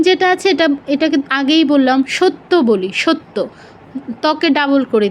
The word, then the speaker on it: সত্য: তারপর সেকেন্ডটা হচ্ছে সত্য, সত্য, ত যুগ ইয় তিয়া, সত্য, সত্য নয়, সত্য নয়, কি?